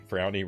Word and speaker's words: Frownie: being uh here tonight frownie rhymes with brownie that it does I